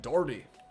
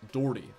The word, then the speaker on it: Daugherty: here we got Brad Daugherty I think that's how you pronounce his name I know it's spelled daughtery but I think it's pronounced like Dougherty I could be wrong about that but we got him